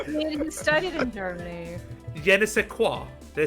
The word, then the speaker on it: Jena: single word I mean he studied in Germany Jena did I say it right about it yes